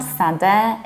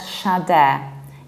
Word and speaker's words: Sade: It's not SADE, it's not SADE, it's Sade. Sade, exactly because of the very same rule of pronunciation of final A. Like Beyonce, we say Sade, Sade. And we pronounce Sade exactly like day, as if you wanted to say, have a good day.